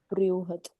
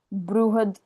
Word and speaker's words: बृहद: जो ब के नीचे आधा आधा मून होता है, इसका प्रोनाउंसिएशन थोड़ा ऊ करके हो जाता है ना, बृहद ऐसे करके हो जाता है ना। बृहद, ब्रू या फिर ब्री, कोई भी उच्चारण कर सकते हो ये।